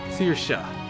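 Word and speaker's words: Saoirse: are crying something more her name is pronounced seer seersha it means freedom oh they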